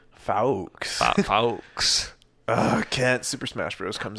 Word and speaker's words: Fawkes: Yeah, they're gonna get over the fact his name is Fox. It's like it's spelled Fawkes or something. Doesn't matter. Yeah, you're right. It's like Fox. Fawkes. Fawkes.